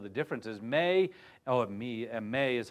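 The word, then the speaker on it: μή: see some of the differences May oh me May is how you pronounce that me that's one of the Greek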